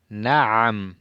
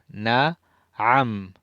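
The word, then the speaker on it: نعم: Qalu, dijeron, qalu, na'am, na'am, sí, na'am, el ain en el medio, pronuncien bien la consonante a. Na'am, na'am, na'am es de la garganta.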